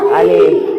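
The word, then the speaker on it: ألف: আলিফ। আলিফ আলিফ আলিফ। আলিফ আলিফ। কোন টান নাই। আমার সাথে এরকম আলিফ আলিফ।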